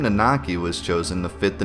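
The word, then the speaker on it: Nanaki: real name given to him at Birth was nakaki and yes I did my research this time it is pronounced nakaki that's how you pronounce it plus I'm part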